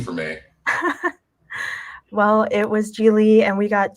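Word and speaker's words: Gigli: I literally went with Jiggly because that's the only Bennifer film I know. Yes. So it was Geely. I didn't even say it right.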